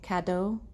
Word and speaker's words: Caddo: the homeland of the kado tribe I don't know how to pronounce that correctly Caddo CA do or excuse me CA D do now this was southeastern native